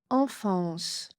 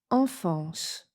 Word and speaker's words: enfance: Première question, enfance. Enfance. Vous avez la réponse? C'était le numéro 2. Deux fois le son A nasal, EN et AN, se prononcent de la même façon en.